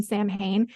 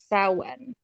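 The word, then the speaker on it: Samhain: laughing about it oh it's like not pronounced how it's spelled at all s oh yeah the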